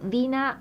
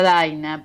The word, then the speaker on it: Dina: Dina. Bueno, sí, en realidad. Ah. Mi nombre se pronuncia Daina, pero ya estoy acostumbrada este porque es tan distinta la pronunciación Daina Dina que bueno, pero en realidad me dicen Daina.